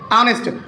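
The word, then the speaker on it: honest: बताने जा रहा हूं लेकिन उसका उच्चारण हिंदी वर्णमाला के अनुसार अगर स्वर से होता है तो वह भी एक एन का प्रयोग होगा जैसे ऑनेस्ट आप इसको ऑनेस्ट लिखते हैं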